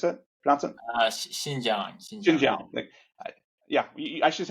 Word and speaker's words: Xinjiang: validated that products that were directly sourced from Zhangjiang? Is that how you pronounce it? Xinjiang.